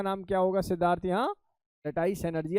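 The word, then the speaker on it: lattice: Energy का नाम है लटाइस एनर्जी, या प्यार से इसको किस नाम से पुकारेंगे? लैटिस energy. लटाइस एनर्जी या लैटिस एनर्जी एक ही बात है, प्रोनाउंसिएशन अंतर। वैसे सही प्रोनाउंसिएशन इसका लटाइस ही है।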